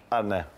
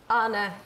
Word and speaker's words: Arne: Anna, this was the first thing I was actually going to ask you. Yeah, how to Being pronounce. A Liverpool fan, I got told it was similar to John Arnorisa.